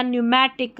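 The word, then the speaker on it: pneumatic: पीएन साथ में आता है तब भी पी साइलेंट रहता है। जैसे निमोनिया न्यूमैटिक में जो है पी हमारा यहां पर साइलेंट है।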